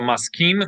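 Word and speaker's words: מסכים: sha'ani, maskim, So maskim means agree, and this is mashkim, which means to get up early.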